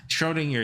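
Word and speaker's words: Schrödinger: Shrodinger is the pronunc pronunciation.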